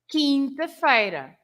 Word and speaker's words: quinta-feira: but then we say quinta-feira, right? Ah, good So example. Okay. quarta-feira, because Yeah. we pronounce the Q-U-A, Yes. but we don't pronounce the Q-U in quinta-feira. Well, that's a So- really